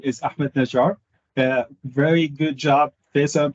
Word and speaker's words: Ahmad Najjar: so uh first things first my name is ahmed najar a very good job faisal pronouncing my name uh so i'm based in